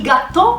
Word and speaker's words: gattò: il gateau di patate comando con due tir con l'accento sulla o quindi non rinviato francese ma il gatto napoleta prepariamo lo sformato